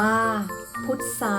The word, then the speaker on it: พุทรา: ก็ อ่าน ว่า ทราย พุทรา อ่าน ว่า พุทรา ทรุด โทรม อ่าน ว่า